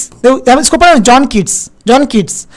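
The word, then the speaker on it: Keats: देखो John किड्स है actual में यहां पे टी है जॉन किड्स है लेकिन यहां पर उच्चारण आ रहा है किड्स जैसा जॉन किड्स यानी किड्स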